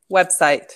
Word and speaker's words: website: conscious thing for you yes yes but you pronounce that correctly website consciously i did it yeah if you keep